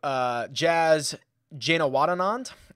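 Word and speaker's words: Jazz Janewattananond: Jazz Janawadanand, I believe is how he pronounces it.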